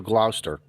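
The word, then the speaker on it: Gloucester: We brought the kids up to Glouster. Glouster. Sorry. What? Glouster. Glower. How do Okay. How Okay. H how does a Connecticut guy supposed to annunciate this word? Glouster.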